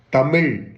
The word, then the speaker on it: தமிழ்: தமிழ் அப்படின்னு சொல்லி பாருங்களேன். தா மீ உதடு ஒட்டுது. இந்த நாக்கு கூட இங்கே மேலே சுழன்ற அந்த மேல் பகுதியை தொடுது. லா, அந்த லகரம், அந்த லாக்கு அவ்வளோ சிறப்பு. மழை, தமிழை சரியாக ப்ரொனவுன்ஸ் பண்ணக்கூடிய நிறைய பேர் இங்கே இல்லை தமிழ்நாட்டிலேயே. தமிழ் போன்ற இனிமையான மொழி எங்கேயுமே இல்லைங்க.